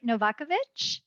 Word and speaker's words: Novakovic: And our student seat, we have, am I say it right, Novakovic? Yes, A+. Good job. My husband jokes that just think of Nova hatchback. That's kind of close to Novakovic.